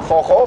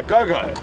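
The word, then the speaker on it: Gogo: It's quite an interesting spelling, because I think if you had to say it how you would think it was said, it would be a go-go. It is spelled G-O-G-O, and obviously with a lot of us having a bit of Afrikaans influence and whatnot, that sound with the G is from the Afrikaans language, so it's a Jojo or a Joja.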